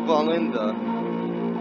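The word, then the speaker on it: Wallenda: On July the 18th, 1970, an aerialist of the name Carl Valenda, that's Valenda with a W. The W, I believe, is pronounced with a B, if I remember correctly, crossed the 750-foot-deep Tallulah Gorge in Georgia on a tightrope in America.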